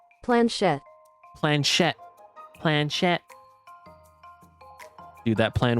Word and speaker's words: planchette: But after March 7th ask, as you can prove her sword skills, the Spiritfarers slyly begin to nudge the planchetti ever so slightly.